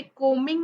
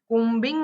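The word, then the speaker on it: combing: म्हणायचं कोम म्हणायच कोंब असं म्हणायचं नाहीये ओके कोमिंग माय हेर कोबिंग माय हेर नाही कोमिंग बी सायलेंट आहे आता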